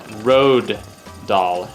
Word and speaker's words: Roald Dahl: And for the record, his name is pronounced Roald Dahl, as far as I'm aware. So you don't pronounce the L.